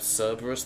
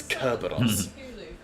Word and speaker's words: Cerberus: There's no such thing as a soft C in Roman, for example, so you don't have Cerberus, the three-headed dog, unless you're linguistically retarded. It's Kerberos.